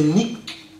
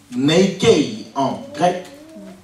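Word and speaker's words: νίκη: foi le mot victoire c'est nique ou Nike en anglais Nike en grec ça s'écrit simplement n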